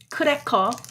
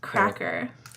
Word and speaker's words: 크래커: You have to say 크래커 instead of cracker.